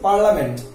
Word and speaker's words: parliament: এখানে আমাদেরকে পার্লামেন্ট শব্দ উচ্চারণ করার সময় পার্লামেন্ট বলা লাগবে, কিন্তু স্পেলিং লিখতে হবে কি পার্লিয়ামেন্ট। তাহলে আমরা স্পেলিং লেখার সময় পার্লিয়ামেন্ট মনে রাখবো, আর প্রোনাউন্সিয়েশনের সময় কি বলবো? পার্লামেন্ট বলবো। ওকে, নেক্সট ওয়ার্ড হলো কাঁচি।